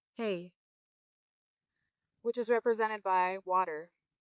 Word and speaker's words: He: Lastly is the second H, again pronounced hey, which represents Earth.